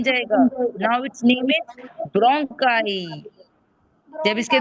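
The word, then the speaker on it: bronchi: It's spelling is like ब्रोंचा, लेकिन उसकी sound ब्रोंकाई आएगी।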